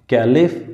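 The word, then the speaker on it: caliph: हैं और उसी को खलीफ बोलते हैं, खलीफ, कैलिफ या खलीफ, और उसका जो रूल होता है उसी को खिलाफत बोलते हैं, खलीफत, ठीक है.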